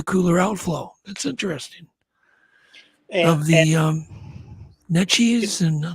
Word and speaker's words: Neches: head to the cooler outflow that's interesting um net cheese and how do you say that Neches River Natchez yeah yeah there are a lot of rivers